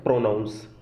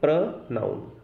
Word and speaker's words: pronoun: कई सारे स्टूडेंट्स या लर्नर्स जो हैं उनके मुंह से मैंने सुना है प्रोनाउंस, जबकि इसकी जो करेक्ट प्रोनाउंसिएशन है वो है प्रोनाउन।